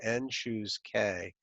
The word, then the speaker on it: n choose k: It's n choose, this is what you actually call it, n choose k. That's how you say it.